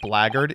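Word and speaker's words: blackguard: handbag for some reason black art is pronounced blaggard you know I think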